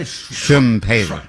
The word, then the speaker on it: Schumpeter: Schumpeter.